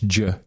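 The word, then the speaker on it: Jeh: Johnson, J-E-H, J. He pronounces it J, but it's J.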